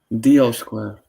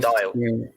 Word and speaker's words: Dial Square: Deal Square. Deal. Yeah, the pronunciation. You mean Deal Dial? Square Football Club.